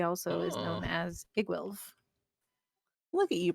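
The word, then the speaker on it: Iggwilv: as Igwilv. Look at you pronouncing shit properly.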